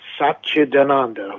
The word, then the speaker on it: Satchidananda: Satchidananda, which is Satchidananda, because it's not an Italian name, it's an Indian name.